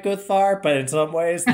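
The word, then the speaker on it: Guðvarr: say, yeah, something about Goodvar. Am I saying that right? No, Guthvar. Guthvar?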